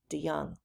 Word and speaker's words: DeJong: So whenever we see a J like that, it's pronounced with a Y. So his name is pronounced like this, DeJong.